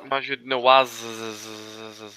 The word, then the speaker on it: Majid Nawaz: Oh, you're Maginoir sorry. means No, Majid Nawaz.